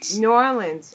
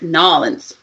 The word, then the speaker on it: New Orleans: You're supposed to combine the words. And take all, like, it's got like you took a peanut butter and you just smeared it. New Orleans.